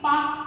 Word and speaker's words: Palk: क्या क्या देखे हम लोग इसमें कि पाक, ठीक है, ये पाक वो पाकिस्तान बना दी है, इसका स्पेलिंग होता है PALK।